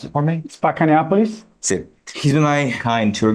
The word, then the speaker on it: Spacca Neapolis: Pronounce it for me. Spacca Neapolis.